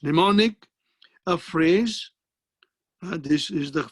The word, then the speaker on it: mnemonic: common this is called mnemonic what is it called mnemonic m is not pronounced mnemonic a phrase this is